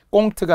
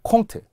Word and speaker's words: 콩트: 가스 레인지 꼬약이 아니라 코약 꽁트가 아니라 콩트 마사지가 아니라 마사지라고 받침없이 가야 된다고 했어요.